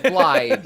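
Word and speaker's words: Blaidd: Spelled like Blade, but Blythe is how you pronounce it.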